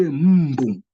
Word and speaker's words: mbu: You say mbu. Mbu. So you will be adding in an M that is not in the initial writing format, but it's there in the pronunciation.